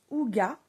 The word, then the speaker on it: hygge: Donc le livre du hig en fait ça se prononce ouga mieux vivre la méthode danoise.